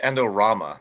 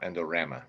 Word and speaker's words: Endorama: creator for a while it's pronounced endorama not endorama I know I know